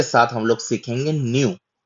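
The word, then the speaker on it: ν: और उसी के साथ हम लोग सीखेंगे न्यू। न्यू भी कैपिटल में एन की तरह है और उसका उच्चारण भी न का है।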